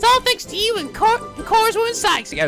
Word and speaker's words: Corpse: It's all thanks to you and Core's woman Cykes. Yeah, it's core woman. Yeah, I knew that you don't pronounce it corpse, you pronounce it core, but I wasn't really